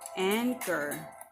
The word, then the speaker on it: anchor: to add here is anchor once again that CH letter here has the sound of K and girth at Goat